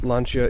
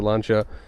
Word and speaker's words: Lancia: videos with the Lancia, I pronounce it Lancia, which still works better with my American pronunciation in my opinion, but someone did correct me on the pronunciation, so I'm going to try to be good about saying it correctly.